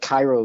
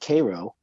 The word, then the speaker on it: Cairo: And so where I work, this couple came in from near a town called, it's spelled like Cairo in Egypt, but they pronounce it Cairo.